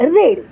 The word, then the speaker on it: read: क्रियापदाचं दुसरं रूप रीड, त्याचं दुसरं रूप रेड. स्पेलिंग तेच राहतं, ही गोष्ट लक्षात घ्या. READ रीड आणि त्याचा पास्ट टेन्स READ असाच असतो, फक्त तो वाचताना आपण रेड असं वाचायचं आहे.